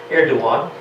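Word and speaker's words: Erdoğan: The G in his name is silent. That's what that little crescent above the G means in Turkish, Erdogan.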